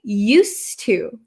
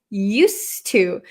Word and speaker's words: used to: used my my phone however here the pronunciation changes a little bit okay used to used to so this D kind of disappears because it's followed by a t used to and